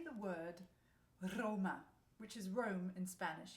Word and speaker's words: Roma: you say the word Roma, which is Rome in Spanish, yeah? So you roll your R's, and then you say Roma, Roma, Roma.